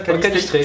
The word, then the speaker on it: canistrelli: On dit comme ça, canistrelli. Sur quoi on met l'accent tonique? Je sais jamais moi. Canistrelli. Canistrelli, canistrelli, c'est sur le E.